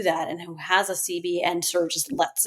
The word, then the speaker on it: Cibi: And the CB is spelled CIBI.